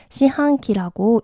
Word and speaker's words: 四半期: 그래서 1, 2, 3, 4분기를 일본에서는 이렇게 시한기라고 읽는 거 알아두시고요.